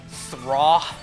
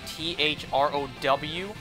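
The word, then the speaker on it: Throh: that name was pronounced straw and then I watched the anime they pronounce it bro kind of like t-h-r-o-w but instead of the W it's like an H sound throw foreign and then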